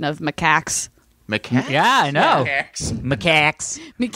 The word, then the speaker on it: macaques: this already, but you were correct in the pronunciation of macaques.